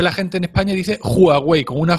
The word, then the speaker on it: Huawei: digo así pero bueno lo mismo es Huawei o Huawei es que no me sale así hay que ponerte como aparte en la entrada de Los Simpson se pronuncia Huawei se pronuncia Huawei pronox